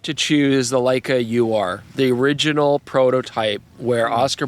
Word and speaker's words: Ur: pronounced it like it's ur it's a yeah it's a German word but I'm going to say you are uh this is the